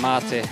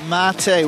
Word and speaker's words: Marte: right now mate now they're telling me I'm pronouncing your name wrong give give us the correct pronunciation Marte Marte we won't get it wrong now okay mte with the